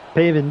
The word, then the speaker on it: Pavin: nope that's a ball paven Smith that's right that's how you say his name paven Smith the Caso